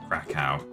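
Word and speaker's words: Kraków: went to Prague oh I've been to Krakow it's pretty far east in Europe um I'll crack out depending on whether you want to pronounce it using the local language or not oh yikes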